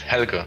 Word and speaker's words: Helge: and he's from Germany, and his name is Helge. Hey Helge, how are you? Hi, my name is Helge.